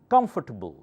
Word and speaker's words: comfortable: fir table comfortable comfortable okay come louder comfortable not comfortable no table table comfortable good